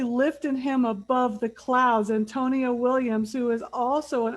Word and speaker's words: AnTonia: So can you tell me the correct pronunciation? Tonia. Antonia.